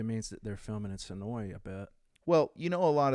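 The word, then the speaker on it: Senoia: It's spelled... Actually, if you saw it spelled, it would be Sonoya is the way it's spelled, but everybody down there calls it Sonoy.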